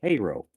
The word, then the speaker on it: Cairo: K well thing is it's spelled Cairo and it should be called Cairo but the locals call it Cairo and that has always